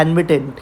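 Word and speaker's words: annuitant: The person who receives एन्विटी is called, ये याद रखना, इसको बोलते हैं एन्विटेंट। क्या बोलते हैं इसको, एन्विटेंट।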